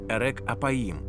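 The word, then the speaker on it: ארך אפים: фраза повільний на Гнів вимовляється як ерек аїм що буквально перекладається як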